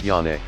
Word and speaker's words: Johnny: a good friend named Johnny pronounced yane can barely communicate with